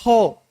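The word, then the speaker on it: ὁ: La o con ese cosito, eso es un espíritu, se pronuncia ho.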